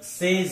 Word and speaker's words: says: अब हम अगला शब्द लेते हैं SAYS, सेस। इसका सही उच्चारण सेज है, सेस नहीं है।